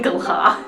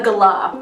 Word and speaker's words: galah: Flamin' galah. How do you say it? A galah.